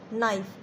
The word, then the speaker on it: knife: KNIFE, नाइफ।